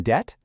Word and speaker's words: debt: That silent B in debt, it points all the way back to its Latin root, debitum.